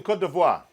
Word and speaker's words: Côte d'Ivoire: Mohammed in Côte d'Ivoire, good morning, sir.